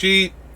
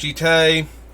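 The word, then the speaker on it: Jitte: I've heard it pronounced Jite. And I used to pronounce it Jeet. I think Jite is correct, but I've been calling it Jeet for so long that I just continue doing it.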